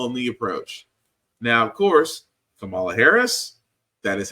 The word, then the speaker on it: Kamala: can tell them the approach now of course Kamala Harris that is how you pronounce her name which is surprising to me